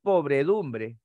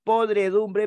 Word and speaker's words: podredumbre: existe sino es proveer por cierto no es pobredumbre es podredumbre porque hace referencia a lo podrido correcto entonces no es